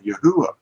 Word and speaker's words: Yahuwah: with this transliteration and this transliteration actually is the same thing as our pronunciation today of yahuwah because this is not a v to them it's a v to us but it isn't a